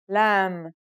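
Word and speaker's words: ل: Our second letter for this lesson is lamb. It looks a bit like the previous letter calf in its isolated and final forms. The lamb sounds like the English L. Very easy to pronounce.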